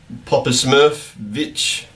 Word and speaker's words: Popovich: Wait, that's how you pronounce it. Greg Popovich.